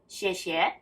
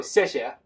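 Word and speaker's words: 谢谢: 谢谢. A lot of people has heard it before. Okay, so 谢谢. 谢谢. Correct. 谢谢. Okay. Is that an X or an S? It's X. 谢谢.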